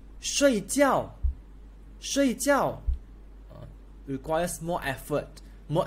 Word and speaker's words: 睡觉: So in Mandarin, we pronounce as fourth tone. 睡觉, 睡觉.